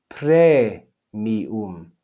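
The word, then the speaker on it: praemium: And you can see that if we divide this into syllables, we have pre, mi, and But the a and the e stay together in the first syllable because they form a diphthong. Pre, mi, 3 syllables. Even though there are 4 vowels, there are only 3 syllables because a, e is a diphthong.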